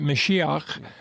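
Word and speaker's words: משיח: The Hebrew is Messiah, or, they would pronounce it Mashiach, but it's Messiah.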